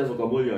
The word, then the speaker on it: Sukamuljo: Sukamulyo juga kan Sukamuljo, tapi dia bisa baca Sukamulyo ya.